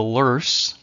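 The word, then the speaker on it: Loess: then we have what is called the the lur even though it looks like Lo here but it's pronounced lur the lur region of Mississippi also called the hills and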